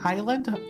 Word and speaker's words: Isla: made a comeback ela that's right yeah or isla isla that's right i thought i thought something else no no it was something else i was thinking island island ila it's isla island my bad i'm